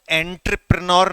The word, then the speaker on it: entrepreneur: सबसे पहले तो जो अंग्रेजी माध्यम वाले विद्यार्थी हैं, याद रखिएगा कि इसको एंटरप्रेन्योर नहीं कहते, इसको एंटरप्रेन्योर कहते हैं। थोड़ा सा आपको तुतलाना पड़ता है इसका सही प्रोनाउंसिएशन करने के लिए।